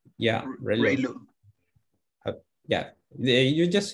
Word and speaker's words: ReLU: How do you pronounce the ReLU? ReLU. Yeah, ReLU.